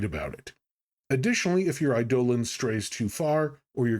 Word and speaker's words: eidolon: By the way, apparently the correct pronunciation is eidolon, but I grew up saying eidolon, so I will try to say eidolon, but if I switch back and forth, I apologize.